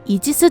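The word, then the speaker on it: Aegis: 타이콘데로가급에 들어간 신의 방패는 아이기스를 영어식으로 발음한 이지스 전투 시스템입니다.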